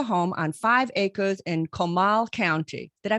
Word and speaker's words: Comal: of their forever home on five acres in comal county did i pronounce that right milan yes come on okay